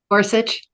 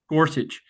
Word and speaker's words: Gorsuch: gor gorit how do I say his name Gorsuch Gorsuch read his comments on the braen case and